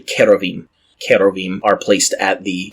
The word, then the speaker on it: cherubim: plural word there so it should be cherubim or really if we're going with a Hebrew pronunciation it is a hard CH sound like you have with nakash so it's actually kerovim kerovim are placed at